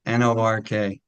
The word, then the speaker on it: Newark: But Lakshmi, it's not Newark, it's Newark. And it Yeah, rhymes with it's Newark. Newark. If you're from That's New right. Jersey, it's Newark. It's Newark, Nork.